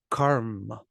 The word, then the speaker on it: karma: for the two consonants Karma it's just like yoga was yo Yoga Yoga karma is karma karma is karma karma the a stays the short sound but the consonants actually take up more space it's like there's some kind of hesitation karma karma karma